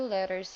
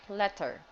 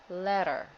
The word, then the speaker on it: letter: most of the time if there are two the same letters you have to pronounce it faster and a little softer okay yes all right